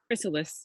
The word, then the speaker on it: chrysalis: How do you pronounce the thing that's in a cocoon? Chrysalis.